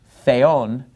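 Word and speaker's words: θεόν: the so notice the word for God Theon the accent is on the second syllable that's where the Mark is tone the Theos inos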